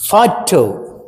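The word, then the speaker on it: photo: ఫోటో, ఇక్కడ చూడండి, ఇక్కడ స్ట్రెస్ ఫా మీద వచ్చింది. ఫోటో, ఫోటో, ఫోటో కాదు, పా కాదు, ఫోటో, ఫా. ఎఫ్ సౌండ్ ఉంది అక్కడ. ఆ ఎఫ్ సౌండ్ నీకు స్పెల్లింగ్లో ఎఫ్ లేదు, కానీ ఉచ్చారణలో ఉంది. ఉచ్చారణ బట్టి పలికి రాస్తాము. ఇది ఫోనెటిక్ ట్రాన్స్క్రిప్షన్ అంటారు. ఫోనెటిక్ ట్రాన్స్క్రిప్షన్ అంటే ఫోనెటిక్స్ అంటే ఎట్లా ఉచ్చరిస్తున్నాము, కనపడేదేమో పి, పలికేదేమో ఫా.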